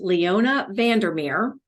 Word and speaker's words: Leona Vandermeer: So along those lines, I have with me a very special guest, Leona Vandermeer. Am I saying that right? Absolutely. Yeah. Very phonetic. Thank you. Yes, it is. Spelled the same way.